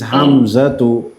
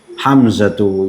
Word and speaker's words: Hamza: But now, but when you speak it, you won't pronounce it as Hamzatu. You just say Hamza, Hamza.